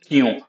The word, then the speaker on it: क्यों: Kyun. Now, kyun is another word which is written as kyon. We write it as kyon, but pronounce it as kyun.